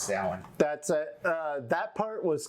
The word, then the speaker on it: Samhain: No, it's pronounced Samhain. Oh, okay. Yeah, it says right there, pronounced Samhain.